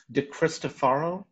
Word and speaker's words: DiCristofaro: get this right, DiCristofaro, is that right? Yes, it can be pronounced two different ways depending on what part of the world you're in, but you nailed it, so good job.